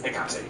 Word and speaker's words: Hecate: All different ways to pronounce it, but it's Hecate, actually.